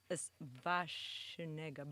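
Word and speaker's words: Schwarzenegger: the real pronunciation is vashnega because the w sounds like v oh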